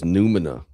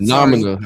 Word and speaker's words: numina: Nomina. I think you said nomina. But yes, it's Numina.